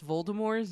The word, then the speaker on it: Voldemort: conversation with a co-worker the proper way to pronounce Voldemort's name is with a silent t they do not do